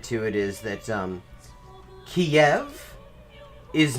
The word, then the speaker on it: Kiev: it is i mean in russian it's ka yeah the k-i-e-v but the stress is on the first syllable kiev which is actually quite